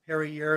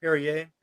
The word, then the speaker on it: Perrier: i like is the perrier sparkling water the lime flavor okay yeah if you're a drinker perrier yeah yeah because they also they don't pronounce the r like they usually leave off the sound oh yeah there you